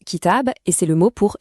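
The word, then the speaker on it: كتاب: On le prononce kitab et c'est le mot pour livre.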